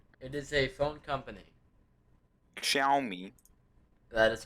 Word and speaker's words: Xiaomi: to be on for that ah can you pronounce that give me a it is a phone company xiaomi that is correct how did you bruh you